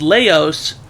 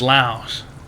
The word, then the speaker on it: Laos: Laos is, you know, not pronounced Laos. It's Laos. Okay. Like Khan from King of the Hill.